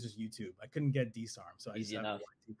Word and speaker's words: DSARM: DSARMT? It's DSARM. So like DSARM. My people would call me DSARM because. And then the YT is just YouTube. I couldn't get DSARM.